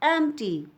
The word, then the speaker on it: empty: To her surprise, the lunch box was empty. E-M-P-T-Y is empty. P is silent.